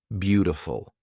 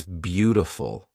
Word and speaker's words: beautiful: is actually pronounced as beautiful it's almost a d that is almost an R it's beautiful you know I'm using